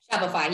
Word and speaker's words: Shopify: The challenge is when you release those new builds inventory, you know when you promote them in Shopify, did I say it right? Shopify, you got it, yep.